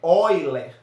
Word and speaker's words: Euler: assim, a gente escreve Euler, né, mas a pronúncia é Euler, tá, gente? Então nós vamos estudar essa relação. E o que é que diz a relação de Euler?